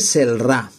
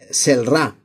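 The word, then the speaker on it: Celrà: en el mercadillo de celra vale celra se escribe con c vale c e l r a O sea si lo leyera en español en castellano leería celra como cielo vale Lo que pasa es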